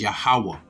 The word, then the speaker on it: YAHAWAH: Like I said, the tetragrammaton, the YHWH, the vowels are YAH, the letters are YAH, HA, WAH, HA, but the I at the end is silent. So it's YAHAWAH.